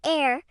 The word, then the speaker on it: heir: And for the word heir, as in someone who inherits a fortune, the H is also silent. It sounds like heir.